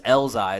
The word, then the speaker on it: Elzhi: Like, his name is Elzai. It's spelled Elzhi.